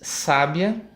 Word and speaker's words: sábia: é a penúltima e em sábia a sílaba tônica e antevê última e vejam que dependendo